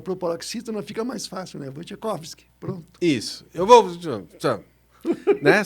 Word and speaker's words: Wojciechowski: Sim, é uma paroxítona, né? Mas em polonês é mais difícil ainda, porque em polonês é Wojciechowski. Nossa! Então é quase impronunciável. Então o pessoal no Brasil, olhando assim o sobrenome, o pessoal começou a dizer Wojciechowski. E daí pegou, não tem como falar de outro jeito aqui.